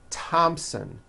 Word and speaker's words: Thompson: Although these next words and names are spelled with a TH, they are pronounced as if they were spelled with a normal T, like that. And these words are Thomas, Thompson, Teresa, Thailand, Thames, like the river, Esther, and thyme, which is a spice.